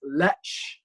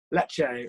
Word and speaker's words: Lecce: He gets 2 assists in a 4-0 home victory over, I think it's Lech. You pronounce it, I think. Lecce, right.